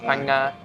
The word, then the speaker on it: Phang-nga: Did I pronounce that right? Yeah, Phang-nga.